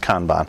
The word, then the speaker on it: Kanban: where it actually came from but it is pronounced Kanban I think it's Japan and what it is